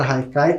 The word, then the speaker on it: Haikai: podem ver a palavra Haikai como ela é de origem japonesa se escreve com h mas tem esse som de R e muitas vezes pode